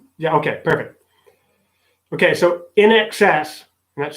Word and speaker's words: INXS: Okay, so in excess, and that's spelled INXS, in excess.